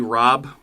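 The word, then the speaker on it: Rabe: is the strong point it's got uh lily robb that's how you pronounce her last name she's been in a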